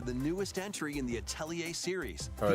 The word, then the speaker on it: Atelier: You're looking forward to the newest entry in the Atelier series. Oh, Atelier. That's how you pronounce it. Atelier.